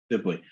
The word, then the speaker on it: Sibley: I am so pleased to have Sibley. Is that the correct pronunciation of your last name? That's correct. Yes, Sibley. Awesome. Sibley.